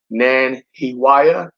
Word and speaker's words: Nanhiwaiyah: uh dialogue with me and his name is nan hewaya that's how you pronounce it i call him nan for short